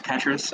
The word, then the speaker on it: Petrus: Next is Petrus, if I'm pronouncing that right. Yeah, it's Petrus. So my name's Petrus.